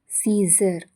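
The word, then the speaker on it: Caesar: ಎ ನಿಶ್ಶಬ್ದವಾಗಿರುವಂತಹ ಅಕ್ಷರ ಸೀಸರ್. ಇಲ್ಲಿ ಎ ಅನ್ನೋದು ನಿಶ್ಶಬ್ದವಾಗಿದೆ.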